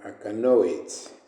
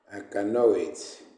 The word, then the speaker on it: alkanoate: discussing uh organic compounds which are called aenoids or a canoit. I've heard many people saying I can know it a canal I can they pronounce this in an interesting way very funny way I love it a